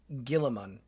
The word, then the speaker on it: Guilliman: One, the Ultramarines are not as Actual pronunciation, Roboute Guilliman.